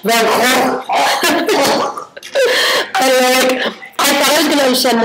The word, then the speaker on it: Van Gogh: Apparently every country pronounces Van Gogh a different way. And France is like Van Gogh. Van Gogh? Yeah. And 2 G's. How do they say it in Dutch? Van Gogh.